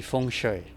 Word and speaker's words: feng shui: Direct translation from Chinese, right? So the proper pronunciation should be feng shui. But according to leading architecture academic Dr. Michael Mack, feng shui principles make good sense.